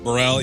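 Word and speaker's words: Burrell: And is it Burell? Burell.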